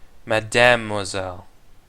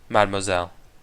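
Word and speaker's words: Mademoiselle: don't know what uh let's go to Lou Madame moiselle C oh you don't pronounce the e in Madame Isel so madelle oh good to know Falcon and sparrowson make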